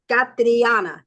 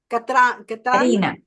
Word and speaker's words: Karina: We have, let me just Catriana. Catriana, am I saying it correctly? Catriana? Catriana, you're on mute. Karina. Katrina. Karina. Katrina, keep reminding. No T in there. Karina.